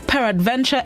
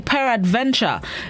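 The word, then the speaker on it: peradventure: which means destiny fate chance risk or peril per adventure entered english about 1300. that's the word of the day this morning per adventure it's spelled p e r a d v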